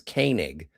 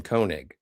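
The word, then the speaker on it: Koenig: See, it's kind of it's kind of interesting that uh it's his Walter's last name is Kanig and everybody calls him Koig, but George's last name is Teay, but everyone calls him Teai.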